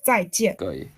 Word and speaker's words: 再见: The J we pronounce T, so 再见.